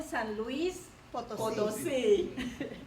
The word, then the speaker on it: San Luis Potosí: Born in San Luis Potosí, the correct pronunciation, Mexico, Josefina was 5 years old when